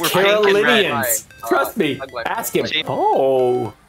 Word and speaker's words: Carolinians: Carolinians.